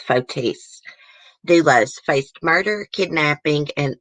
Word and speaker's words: Fotis: of course okay so that's how you really pronounce his name guys not photos it's fotis doulos faced murder kidnapping